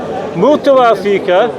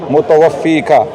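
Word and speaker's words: مُتَوَفِّيكَ: Ya Isa, inni, mutawafika, right? That's incorrect. Right. Mutawaffiq, yeah. Your pronunciation is incorrect.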